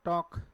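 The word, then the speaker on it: talk: of income ठीक अच्छा कुछ वर्ड जिसमें क्या भी ला एल क्या भी साइलेंट होता है बोला नहीं जाता स्पेलिंग में तो होता है एल ब ल का उसका उच्चारण नहीं होता है ठीक है क्या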